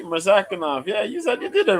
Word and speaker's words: Murzakanov: Butchered that. Nah, you said it right, Murzakanov.